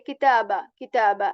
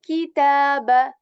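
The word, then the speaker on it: كتابا: We are not going to just say kitaba like this. No, okay, ki. We are going to pronounce it intentionally. Ki. Okay, kitaba.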